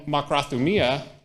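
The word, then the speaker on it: μακροθυμία: Makrothumia, and hupomeno. So makrothumia is made up of 2 root words, makros, which is long, thumos, which is passion or anger.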